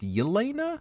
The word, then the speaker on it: Yelena: And those two are Natasha, and Google Translate says it's Helena, but it sounds like it's pronounced Yelena.